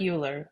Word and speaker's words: Euler: And then we're going to look at something called Euler's method. It looks like Euler, but you pronounce it Euler.